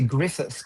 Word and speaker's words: Gruffudd: I think it's actually Griffith, but it's sort of spelled Gruffudd.